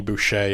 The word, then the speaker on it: Boucher: Denny Boucher, am I pronouncing that correctly?